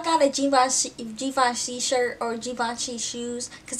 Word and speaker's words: Givenchy: a Givenchy shirt or Givenchy shoes, because that's how you say it. It's not Givenchy, it's Givenchy.